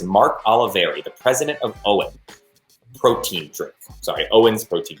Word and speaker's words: OWYN: it accurately um so the correct way to say it is owen and thus far we